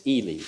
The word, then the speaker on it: Ely: Now, it's not Eli, he's E- L Y. He pronounces it Elely, like Robert Elie. And in talking with me when I met him back in Galina, Illinois in 50 60 rather, he said, "Well, if it was EI, it would be pronounced Eli, but my name is spelled E L Y. It's Elie."